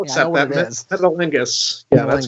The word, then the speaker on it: Metalingus: I can't pronounce it, dude. Oh, it's Metalungus or Metalang. I don't know how to pronounce it. I'll I accept that. I'll Yeah, I know accept what that. it is. Metalingus.